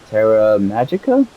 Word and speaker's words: Terra Magicka: Shards it'll be really good I use um Terra Magicka that's how you say it also it rages